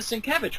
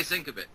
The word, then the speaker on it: Sienkiewicz: And I'm surprised that they haven't done a Sienkiewicz one.